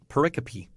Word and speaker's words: pericope: know if I've ever heard that word actually pronounced pericope hmm okay yeah uh so my one thing